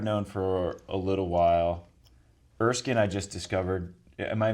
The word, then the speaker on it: Erskine: Erskine I just discovered. Am I even pronouncing that right? Yeah. Erskine.